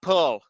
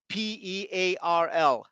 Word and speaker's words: Pearl: To get there, you have to use Judea Pulse, in my opinion, something called causal inference. You have to look this up. Your followers too. Judea Pearl, Pearl.